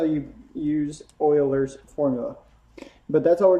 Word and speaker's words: Euler's: as Euler's formula looks like Euler's but it's pronounced Euler's formula that formula is V minus E Plus